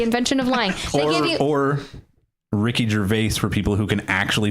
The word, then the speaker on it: Gervais: Or Ricky Gervais for people who can actually fucking pronounce his name. Thank you, Canada. Ricky Gervais? Ricky Gervais. You added a weird extra R at the end of Gervais.